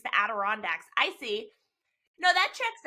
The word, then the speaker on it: Adirondacks: It's the Adirondacks. That's what I said, the Adirondacks.